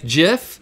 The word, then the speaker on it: gif: I'll give you multiple options of the origin story of said gif jif.